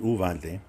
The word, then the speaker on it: Uvalde: to go to uh yuvaldi or uvalde as it's like i guess it should be pronounced uvante but uh it's been anglicized i think to some extent so you know it's